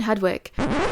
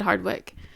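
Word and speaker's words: Hardwicke: Katherine Hedwick. Hardwick. It's Hardwick. Sorry, I I mispronounced that.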